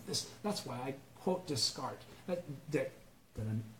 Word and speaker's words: Descartes: That's why I quote Descartes. Did I mispronounce it? No. Okay, Descartes.